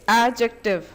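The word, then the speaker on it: adjective: एडजेक्टिव एडजेक्टिव नहीं होता हम डी प्रोनाउंस नहीं करते हैं हम सिर्फ प्रोनाउंस करते हैं जे डी जो होता है वो साइलेंट होता है तो इट्स एडजेक्टिव okay एडजेक्टिव एडजेक्टिव्स okays are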